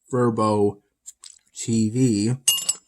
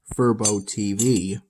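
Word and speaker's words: fuboTV: that I could access Verbo TV. It's spelled FUBO from what I can recall, and the TV part is in smaller text, almost as if it's like an exponent of Verbo, kind of like that.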